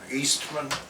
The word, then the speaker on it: Oestmann: your name please sure my name is eastman and the last name is doesn't look like it's spelled it's o-e-s-t and not many people down